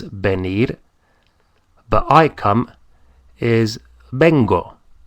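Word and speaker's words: vengo: to come is Ben but I come is Beno v n g o Bango so that's our first one I come is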